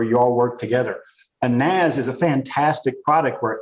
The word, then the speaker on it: NAS: office environment where you all work together, a NAS is a fantastic product where everybody can connect to it. It's pronounced Nas.